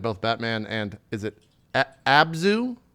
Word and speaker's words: Abzu: I think you've played both Batman and is it Abzu? Abzu. Abzu. Yes. Okay. I didn't know. And if I was played pronouncing Journey it.